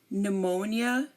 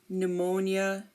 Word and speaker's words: pneumonia: pn or PT again if a word begins with P N or PT um we do not pronounce the P here also um here we have numatic pneumatic pneumonia pneumonia um we have talto